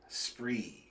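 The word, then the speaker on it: Spraoi: it's spelled s p r a o i spree nobody ever pronounced it right not once we were together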